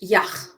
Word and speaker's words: Yach: So let's go, and I hope to get the pronunciation right here. Yach. No, it's a CH. Yach.